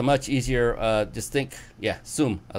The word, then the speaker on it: Soom: Soom is a much easier, just think, yeah, Soom.